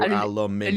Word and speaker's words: aluminum: But we both pronounce that the same way. But you put the emphasis on the first one. We put it on the second.